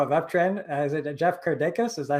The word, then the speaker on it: Kirdeikis: Is it Jeff Kirdeikis? Is that how you pronounce it? You're probably the closest pronunciation on the first go around of anyone that I've heard. So yeah, it's Kirdeikis. You got it. Kirdeikis, awesome.